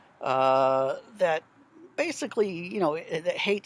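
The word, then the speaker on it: Haidt: some other approaches uh This Hate is how I pronounce it h-a-i-d-t the name of the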